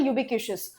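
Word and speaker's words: ubiquitous: अब बहुत simple word से लेकर परफंक्ट्री और पार्सिमोनियस, जैसे ये वर्ड है यूबिक्यूशियस, आई थिंक TIOUS आता है, इसका प्रोनाउंसिएशन होता है यूबिक्यूशियस।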